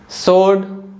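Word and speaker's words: sword: कोई रूल नहीं है जैसे कि सोड टू और आंसर तो इन तीनों वर्ड्स में जो लेटर डब्लू है ना किसी भी लेटर के पहले आ रहा है इसलिए जो लेटर डब्लू है यह साइलेंट है ओवरऑल हमने साइलेंट लेटर्स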